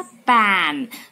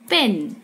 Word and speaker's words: pen: पैन. तो आपको ये प्रोनाउंसिएशन ध्यान से सुनना है और दिमाग लगा के उसको लर्न करना है. And this is पेन, right? वो था पैन और ये है पेन.